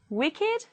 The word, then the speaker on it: wicked: If they are adjectives, they do not follow the rule and they will be pronounced with id, it. Let's read it as adjectives. Aged, blessed, crooked, dogged, learned, naked, ragged, wicked, and wretched.